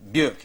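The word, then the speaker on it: Björk: of a few basic things like the name burke is that am i pronouncing it quickly yeah yeah yeah but that's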